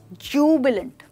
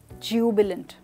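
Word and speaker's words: jubilant: The next one we have is जूबिलेंट। ध्यान दीजिए pronunciation पे, हमने कहा जूबिलेंट ना कि ज्यूबिलेंट, राइट। तो ये ज्यू नहीं प्रोनाउंस करेंगे, हम इसको जूबिलेंट प्रोनाउंस करेंगे।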